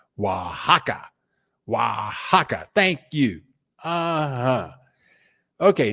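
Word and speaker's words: Oaxaca: Aka is is actually pronounced Wajaka.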